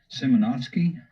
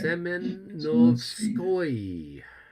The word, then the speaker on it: Semenovskoye: Now we go up to the town of Simonovsky or whatever. We have the I had a Russian friend of mine tell me how to pronounce that. Yeah, that's kind of a. I don't know. Okay. Semenovskoye.